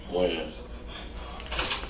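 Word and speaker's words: Wynn: Win. Win? Or Wan?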